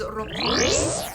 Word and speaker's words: Roppongi: Another sort of more upscale place to shop is Roppongi. I don't think you roll your R's. And Roppongi is a really cool spot for just visually.